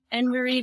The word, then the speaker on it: Annamarie: I am Annamarie. The A in my name is silent.